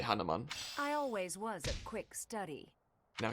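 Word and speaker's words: Hanneman: to learn oh and Hanuman as they pronounce it I look at it and I say Hanuman was a quick study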